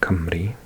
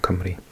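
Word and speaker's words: Cymru: And if you're interested, um, we we are called Camry in Welsh.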